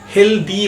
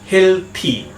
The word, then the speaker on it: healthy: সবাই এই ওয়ার্ডটার উচ্চারণ করে থাকে হেলদি বলে, কিন্তু এই ওয়ার্ডটার ঠিক উচ্চারণ হবে হেলথি। হেলথি।